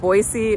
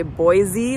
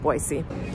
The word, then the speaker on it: Boise: actually just learned that most locals here pronounce it Boise with an S sound and we Outsiders say Boise with the z sound and I think either